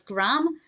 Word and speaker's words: Graham: that Americans or certain Americans pronounce Graham as Graham but I definitely didn't